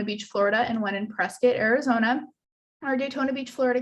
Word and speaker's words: Prescott: program our prescient campus you'll notice i'm saying prescott not prescott i don't know why it's pronounced prescott but it is smaller virtue campuses